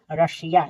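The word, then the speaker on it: Russia: आर U double S आई रशिया यहां बड़ा स हुआ है।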